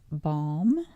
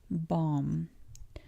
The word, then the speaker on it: balm: Moving away from ball, we have balm. balm Another one of those words that you do not pronounce the L. balm It's there.